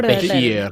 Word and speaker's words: behir: The bear Stuff. tongue. A Bear behir. tongue. A behir, behir. good guardian. Mm. Sorry. It's Behir. not a bad pronunciation on bear. I just haven't heard that before.